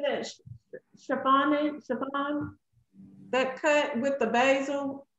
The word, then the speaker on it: chiffonade: Chiffon? That cut with the basil of the spinach? Chiffonade. Chiffonade.